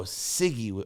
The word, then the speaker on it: Ciggy: I think it's Ziggy. Am I saying it right, Scott? Ciggy with the C. Oh, Ciggy. Like a cigarette.